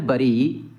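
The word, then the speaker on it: bury: साथ इंग्लिश भाषा का पहला प्रश्न है, द वर्ड बरी इज प्रोनाउंस्ड एज। इसका उच्चारण किसके जैसा है? तो इसका उच्चारण जो है बेरी जैसा है, अर्थात ऑप्शन डी हमारा सही उत्तर होगा।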